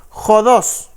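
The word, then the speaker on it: ὁδός: aquí está la pronunciación la pronunciación es jodos ya jodos jodos no es jodos jodos esa es la pronunciación de la palabra caminos en el griego ya entonces aquí nosotros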